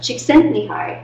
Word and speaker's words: Csikszentmihalyi: That is Csikszentmihalyi, and he is the mastermind behind flow theory.